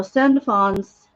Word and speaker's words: Sandalphon: Now, Sandalphon's name has been said many different ways.